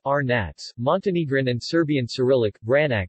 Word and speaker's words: Vranac: Vranac, pronounced Arnats, Montenegrin and Serbian Cyrillic, Vranac is a variety of grapes and a red wine from Montenegro.